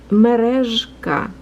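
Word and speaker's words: Мережка: So merezhka, it's kind of like a bumblebee making a noises.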